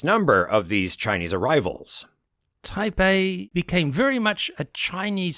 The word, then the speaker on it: Taipei: Tai uh you know technically pronounced Tai Bay received the greatest number of these Chinese arrivals type A became very much a